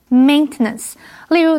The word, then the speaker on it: maintenance: OK，接下来我们看的是 maintenance 这个不可数名词，M-A-I-N 这个字根有手的意思，所以 maintenance 是指维护、维修或者是保养。注意它的重音是在第一音节，念成 maintenance。例如，The elevator is temporarily closed for maintenance。这台电梯因为要保养，暂时关闭。它的动词是 maintain，M-A-I-N-T-A-I-N。这个时候它的重音就跑到第二音节，念成